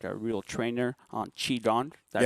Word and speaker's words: qigong: Qi Gong. That's that's how it's read, but Yeah, it's Qi Gong. it's qigong. And Yeah.